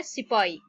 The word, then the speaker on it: sepoy: अब जो Indian soldiers होते हैं जिन्हें हम सिपाही कहते हैं, उसकी जो स्पेलिंग है देखें, इट इज SEPOY, लेकिन इसकी जो हम प्रोनाउंस करेंगे वो है सिपाही।